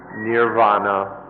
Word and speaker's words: Nirvana: called Nippon int I navona in the Pali language and Nirvana in Sanskrit it's one word by these pronounce or has different forms in the different languages Nibbana and essentially nee Bona